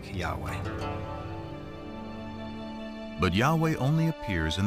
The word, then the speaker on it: Yahweh: and his name was these four letters which in English would be yhw H which we think were probably pronounced something like Yahweh but Yahweh only appears